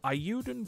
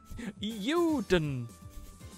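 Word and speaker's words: Eiyuden: It's the sound of a plane rocketing by. Euden.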